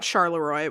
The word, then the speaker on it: Charleroi: Oh, I was thinking about Charleroi, which is actually pronounced like reasonably Frenchly, but also.